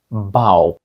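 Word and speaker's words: bough: ке називається bус і Отже літери тут Ау бау тепер поглянемо на слово cф коф - це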